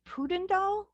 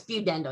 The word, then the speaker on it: pudendal: known as is it Putin doll you know pudendal neuropathy I'm putting the emphasis on the wrong syllable yeah it's viewed Endo yep Emerald that's okay